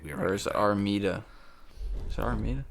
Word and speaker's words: Armida: Or is it Armida? Is it Armida? I think it's an I, Armida. Armida?